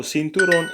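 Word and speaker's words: cinturón: um Centurion Maron Maron so sinturon it's a belt and the accent is on the o not on the U so my apologies uh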